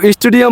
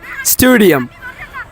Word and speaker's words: stadium: আছেন তারা দেখি যে তারা বলে স্টুডিয়াম সো স্টুডিয়াম বলাতে বা জানাতে তারা যখন স্পেলিং করে আইএলস এর লিসেনিং এ যখন স্পেলিং আসে তারা লেখে এস টি ইউ ডি আই ইউ এম স্টেডিয়াম well এখন এটার correct pronunciation would be স্টেডিয়াম